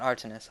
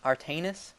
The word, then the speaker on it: Artanis: expect one on AR it's not artinis artanis M's going to get very